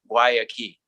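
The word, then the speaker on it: Guayakí: how do you pronounce guayaqui and say well imagine a door and a key why a key i believe that guayaqui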